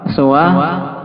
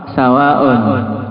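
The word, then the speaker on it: سوى: Lihat kan? Siwa, suwa, sawaun.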